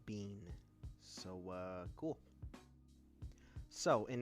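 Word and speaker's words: Biehn: the way real quick I just figured out that you pronounced his name Michael Bean so uh cool so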